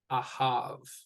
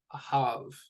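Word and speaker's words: אָהַב: where the stress is the stress belongs over the last syllable not the first syllable so here we have ah have a have so when we're pronouncing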